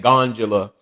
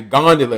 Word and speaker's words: gondola: He had me saying gondola, but when it's actually gondola, and he tripled down